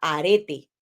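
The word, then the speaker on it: ἀρετή: y dice que es la palabra griega arete como un arete pero con un acento en la arete Así es que Qué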